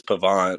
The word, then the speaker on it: Pavon: I think it's Pavon, pronounced Pavon.